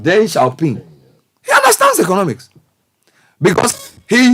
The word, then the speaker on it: Deng Xiaoping: Deng Xiaoping, is that how you pronounce his name? Deng Xiaoping. Deng Xiaoping.